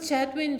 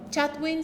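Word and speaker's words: Chatwin: muy bueno es el clásico chadwin se escribe c h a t w i n Bruce Bruce Bruce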